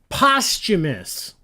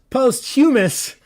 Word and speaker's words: posthumous: question 17 listen carefully who's posthumous for those of you who don't listen to audiobooks because that's where I learned how this word is pronounced if you only read books who's post hummus Oscar nomination well that